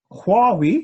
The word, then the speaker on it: Huawei: So Huawei, did I say it right, boys? Yeah, okay, excellent.